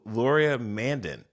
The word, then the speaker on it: Laurier Mandin: And I'm going to mispronounce his name because I'm so excited just to say his name, is Laurier Mandin.